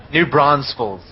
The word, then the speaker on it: New Braunfels: New Braunfels, I think it's pronounced.